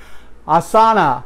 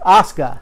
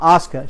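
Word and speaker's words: Asuka: sauna versus Emma yeah I know I'm not pronouncing her name right but she is a great wrestler I'm not a big fan of women wrestling but she is Oscar that's how you pronounce her name Oscar she is awesome and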